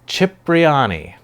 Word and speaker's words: Cipriani: Cipriani.